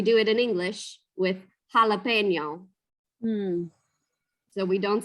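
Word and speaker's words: jalapeño: So the J's turn to the H sound like jalapeno. They don't turn to it, they just are in Spanish. Ha.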